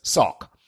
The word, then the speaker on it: SOCC: o c c principle it's just pronounced or i pronounce it as sock okay you still with